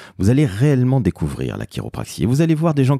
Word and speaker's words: chiropraxie: a XIe et oui ça se prononce quelque part à l'américaine donc vous allez sur